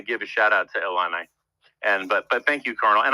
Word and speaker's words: Illini: The proper pronunciation is Illini.